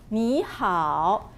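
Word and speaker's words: 你好: Then we will start with Ni hao.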